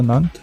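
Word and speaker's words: Nantes: Нант, і він так і читається Нант, а те на конці читається у французькій.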